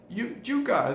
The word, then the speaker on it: yuca: All right, as the years have gone on, I've learned to eat and love yuca, as they pronounce it here in Panama.